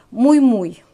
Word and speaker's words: Miu Miu: не помню что именно мне девочка написал что я неправильно произношу этот бренд правильно говорить мой мой ну я знаю что